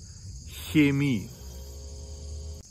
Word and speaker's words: Chemie: So the standard pronunciation of these two words is China, Chemie. So in the Rhineland, near Cologne, for instance, a lot of people would pronounce these words China, Chemie.